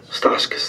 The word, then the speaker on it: Stauskas: Stauskas, thank you.